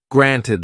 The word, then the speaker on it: granted: you say about it James didn't pronounce the the in granted or little used a glottal stop instead granted little gladle stops are very common in British English and are made by closing the throat blocking the flow of air very briefly before releasing it granted can you hear